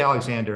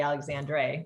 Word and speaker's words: Alexandre: you know we say Alexander it's just easier but yeah it's definitely spelled backwards yeah so somebody has to look it up or spell it we kind of do the Dre yeah okay got it